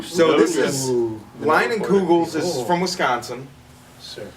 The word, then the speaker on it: Leinenkugel: Leinenkugels is Cool.